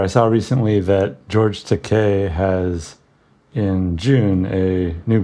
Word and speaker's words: Takei: saw recently that George te has in June a new graphic novel coming out it rhymes with te and it's gay if you don't know